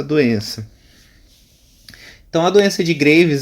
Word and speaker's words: Graves: a doença de graves que se escreve graves mas a pronúncia graves vamos explicar o que